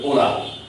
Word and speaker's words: hola: In Spanish, H is always mute. So you will just write it, but you will not pronounce, and you will pronounce it hola.